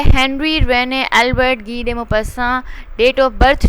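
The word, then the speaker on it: Guy de Maupassant: तो गी दे मोपस्सन इसकी जो है वो प्रोनाउंसिएशन है.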